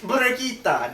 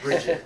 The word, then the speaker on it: Brigitta: Like, It's if- Brigitta, not Bridget.